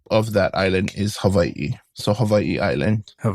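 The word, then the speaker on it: Hawaiʻi: And you can, you know, people say it like with a V. Havi or people even say Hawaii. Either or works. And even my mom, she goes Havi. So, it's you there's many different pronunciations and I'm not saying it which one is right or wrong, but the way I would say it is Hawaii.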